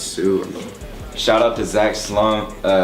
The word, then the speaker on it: Sioux: stick, but you know, people have a hard time pronouncing it and stuff. So like I think it fits, because then they have to ask you like what's the name, how you pronounce it and stuff, and they find out it's Sue.